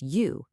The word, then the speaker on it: 雨: Next, we have this one pronounced u. It means rain.